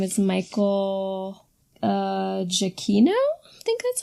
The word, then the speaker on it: Giacchino: Yeah, we should say, I meant to say this last time, but the composer his name is Michael Giacchino?